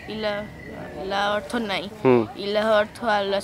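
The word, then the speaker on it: إلا: ইল্লাল্লাহ ভেঙে বলতে হবে ইল্লা মানে ছাড়া আর আল্লাহ তো আল্লাহ হ্যাঁ আর ইল্লা বানানটা হলো আলিফ আর লামের ওপর তাজদিদ ইল্লা হ্যাঁ এখানে ইলাহ আর ইল্লা একই জিনিস না, দুটো আলাদা জিনিস।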